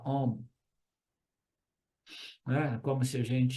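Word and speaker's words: ॐ: m né então a quando você pronuncia a combinação de a com u faz om então ele simplesmente diz quando você pronunciar pronuncia om e om significa a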